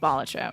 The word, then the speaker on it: Balatro: a for batro yeah it's like pronounced batro I'm going to say batro you still haven't figured